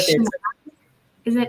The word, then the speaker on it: Chennai: Chennai. Is it Chennai?